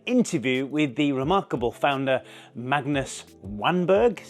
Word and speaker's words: Magnus Wanberg: video and an interview with the remarkable founder Magnus wanberg is how you pronounce it anyway I had no idea this